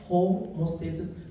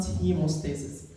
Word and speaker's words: homeostasis: the word dynamic homostasis please just pay attention about the pronunciation homostasis not hemostasis but in the word hemostasis will be related to the blood yes homostasis Rel to